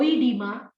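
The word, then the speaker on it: oedema: e m a o edema but the pronunciation is edema edema means swelling okay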